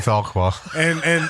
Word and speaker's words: Fauquier: And met a couple guys from, and it's Fauquier County, and it's up Farquhar. these guys pronounced it Fauquier County. Yeah, Should be Farquhar.